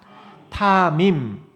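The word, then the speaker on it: תמים: 우리 한번 발음해 볼까요? 타밈. 타밈.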